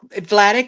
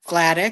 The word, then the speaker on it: Vladik: It's Vladik with a V, like in Vladik. victory. Vladik.